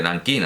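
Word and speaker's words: Nankín: lo que en fin se transcribe como J en nanquín durante mucho tiempo en la corte se pronunciaba como K por lo que se pronuncia nanquín Y de paso pues como los misioneros entraron en contacto con la corte de nankin antes que con la de Pekín Pues evidentemente por eso se dice nankin y Pekín cuando ahora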